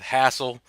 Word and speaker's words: Hassl: from the south so I know exactly how you pronounce that hassle and you can tell